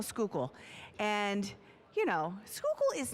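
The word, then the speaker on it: Schuylkill: I said, "Do you know how to spell skookal?"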